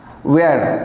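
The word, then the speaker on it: where: कुछ भी आ जाए, तो उस कंडीशन में हमारा एच साइलेंट होगा और डब्लू को पढ़ा जाएगा।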